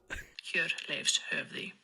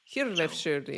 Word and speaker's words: Hjörleifshöfði: Hjörleifshöfði. Hjörleifshöfði. Just put the first emphasis on the first part, Hjörleifshöfði, and then you just like blah, blah.